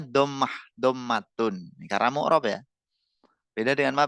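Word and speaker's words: ضمة: Pengucapannya domah dommatun.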